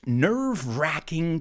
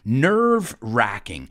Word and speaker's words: nerve-wracking: an interesting one because you can write it with a w a silent w or without that w i usually write it